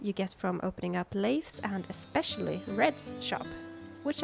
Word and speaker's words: Leif: Leif or Leif, I don't really know how to pronounce his name. Leif is a very common name in Sweden, so I will say Leif.